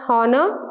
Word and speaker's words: honor: For words such as honor, honest and hour, where the H is silent when we are pronouncing these words, we use an.